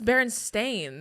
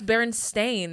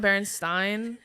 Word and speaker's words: Berenstain: this on on purpose it is a-i-n that's barren stain that doesn't even like phonetically that doesn't make sense maybe it's the way people pronounce this maybe i'm telling you right now that's stupid that's what you guys you guys are like no it's always been this that's berenstain that's not berenstein then pronounce it differently